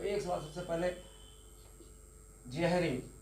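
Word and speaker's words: Jhering: तो एक सवाल सबसे पहले जेहरिंग, तो जे से लिखते हैं जेहरिंग होता है, वैसे एहरिंग उसको हिंदी में आप लिखते होंगे एहरिंग, तो उनकी स्पेलिंग जे से शुरू होती है, जे।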